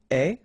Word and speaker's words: es: Okay, so je suis, final S not pronounced, tu es, okay, so it's quite strange because you get this ES, but then phonetically it's est, alright, quite open, tu es.